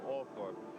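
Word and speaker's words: Althorp: at the gates to all fourth house and here in this village they do pronounce it all for there are a couple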